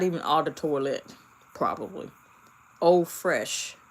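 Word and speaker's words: eau fraîche: Eau Fraiche f r a i c h e. That's French. It's pronounced eau fraiche.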